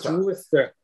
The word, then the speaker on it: Worcester: Just like like Worcester.